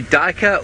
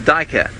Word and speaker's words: duiker: and I guess the anglicized version is duiker Dyk er it's probably more correct for me to use I mean I've never